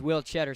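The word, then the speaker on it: Tschetter: One of my favorite tidbits on the Michigan basketball website is the pronunciation for Will Cheddar is just spelled cheddar like the cheese.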